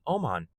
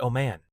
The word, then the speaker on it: Oman: and Iran nuclear deal, and this will be held in Oman. Or is it Oman? Now, I'm sure it's pronounced Oman, but I kind of like Oman,